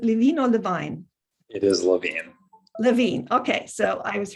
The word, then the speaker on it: Levine: It is Levine.